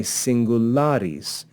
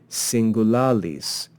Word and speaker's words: singularis: what happens is that second L is actually changed to become ER and we say singularis rather than singulalis just to make it less distracting and easier to pronounce likewise Medi means middle